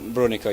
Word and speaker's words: Brunico: Yeah, Brunico.